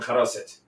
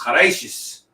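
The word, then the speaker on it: חרוסת: We're making charoset. Except it's Ashkenazi, so it's chareishis because we pronounce things weird.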